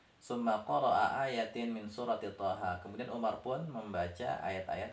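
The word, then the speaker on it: طه: ayat-ayat, min, dari surat Thaha ya, Thaha. Kemudian Thaha ini bacanya sama-sama seperti alif lam mim ya, dibaca sesuai dengan namanya. Ini huruf Tha dan huruf Ha, min suratil Thaha.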